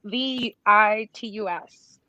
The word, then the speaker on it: Vitus: It's a Vitus. I don't know how to pronounce it. No, not like the singer. That's not like, it's with a U, Vitus.